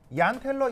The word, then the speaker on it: Jahn-Teller: 자, 그런데 오늘 할 얘기는 뭐냐면 바로 얀텔러 e펙트라고 하는 내용이에요. 얀이에요. 얀 얀 그 그 독일 사람이에요. 독일 사람 독일에서 죄인은 아이 발음이 나거든요. 그래서 이제 얀텔러 이펙트라고 하는데이